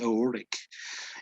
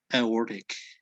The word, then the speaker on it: aortic: one right the the aortic it's like the t is silent okay aortic valve thank you you're